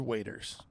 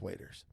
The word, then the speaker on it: Waters: pronunciation bille today Drew waiters I will I realiz phonetically phally I knowe was me Yep this phonetically looks like waters I agree but it's pronounced waiters my fun facts are